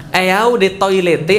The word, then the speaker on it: Eau de Toilette: Eau de Toilette artinya adalah eau de toilet bacanya.